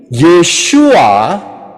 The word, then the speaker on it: Yeshua: sini kemudian yang berikutnya jadi yesua tulisannya y e s h u a itu adalah cara pengucapan oh pronounciation kalauak gitu